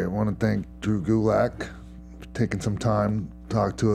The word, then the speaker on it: Gulak: on twitter at drew gulick you can follow me on instagram at drew gulick that's pretty much it DRD WGU Lak it rhymes with attack I'm also on 205